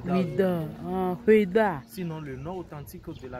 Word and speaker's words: Ouidah: Normalement, on devrait dire Quéda, mais compte tenu de la mauvaise prononciation des colonisateurs français, c'est pourquoi Quéda est devenu Ouidah.